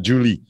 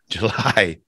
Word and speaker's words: July: month July in July yeah not Julie July what year what what year is it um 2022.